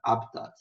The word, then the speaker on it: habitat: Habitat. Apesar de não ter acento, você pronuncia, né, como sílaba tônica o HA, né? Habitat.